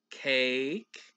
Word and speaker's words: cake: We'll spell it at the bottom. C-A-K. And then with that magic E, silent E at the end, the A says its name.